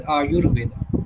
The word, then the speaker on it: Ayurveda: va and when we combine together we uh pronounce it as aayurveda.